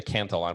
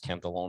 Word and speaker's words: Cantillon: Cantillon, I think it's, people often say the Cantillon, but I think it's actually pronounced Cantillon effect.